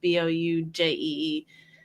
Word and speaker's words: Boujee: And then if you want to find me, I'm Bougie Bricks, and that's a Jee. I know it's spelled two ways, but it's Boujee.